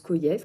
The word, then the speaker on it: Kojève: Koyev, donc Alexandre Koyev, même si ça s'écrit Kogev, ça se prononce Kyev comme Jonas qui s'écrit Jonas.